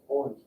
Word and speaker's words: orange: they are good orange orange yeah orange say that orange it breaks the rule you don't pronounce the e on the end like we normally would in german but okay yellow with